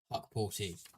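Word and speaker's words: Hukporti: Confirmation from Matthew Owens that it is pronounced Huckporty.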